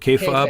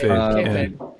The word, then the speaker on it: kayfabe: What is it? K-fob? How do you pronounce it? Kayfabe.